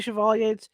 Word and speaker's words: Chevalier: own blueness Within Chevalier let's say Chevalier it's spelled c-h-e-v-a-l-i-e so it's either you know Chevrolet or Chevalier appeared for a closer